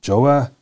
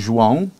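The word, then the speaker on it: João: today his name is joa um no I'm mispronouncing that how do you really pronounce your first name how do I pronounce it well it's actually Juan yes everybody knows me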